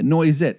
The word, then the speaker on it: Noisette: I'm going to say, would you pronounce it Noisette? I would, yeah. Yeah, Noisette.